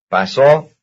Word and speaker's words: pasó: Pasó. Pasó. So, paso, that's the second syllable.